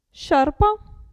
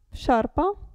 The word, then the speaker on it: sciarpa: E il gruppo SCI si pronuncia sci, sciarpa, sciarpa, e qui?